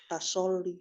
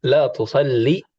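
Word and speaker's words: لا تصلي: Tasoli. Enggak Bu, ini kan Lihat di atas. merintah orang jadi tak latu soli. Yusalli. Harokat awalnya apa? Doma. Tuh. Nah, berarti di sini. Latu soli. Ayo, la tusalli.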